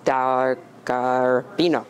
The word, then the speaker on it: Delgarbino: We're here with Delgarbino. Did I pronounce it correct? Delgarbino. No, Delgarbino. Yes.